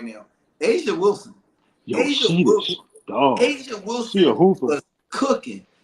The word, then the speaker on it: Aja: You know, I look at Asia Wilson, and I talked about this on my hot seat. Okay. No, Tony. It's spelled AJA, not like the country.